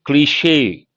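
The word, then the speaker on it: cliché: But as I said, you got to be careful with this word, cliche. How do you pronounce that?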